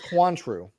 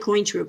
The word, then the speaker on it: Cointreau: So it's Quantru. Yeah, it's Quantru. And what actually, I've never had it. I called it Cointru because it's spelled COIN like a coin.